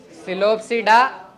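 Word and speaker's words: Psilopsida: चार क्लासेस है चार सिलो सडा लाइकोपस स्फेनो सडा रोप्स रोसिड पी सब में साइलेंट है सिलो सिडा लाइकोपस स्फेनो सिडा रोसिड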